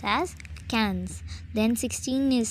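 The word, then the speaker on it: quinze: So it is pronounced as cans.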